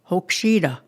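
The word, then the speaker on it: hokšída: Hokshida. Like that. Don't keep it to yourself, let it come out.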